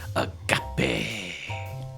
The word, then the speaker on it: agape: The theme is agape. And when you have to say it like that, agape.